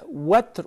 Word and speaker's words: witr: The recommended thing is that to keep the witr or the witr, both are right, the pronunciations, as the last prayer, to seal up the night prayer with it.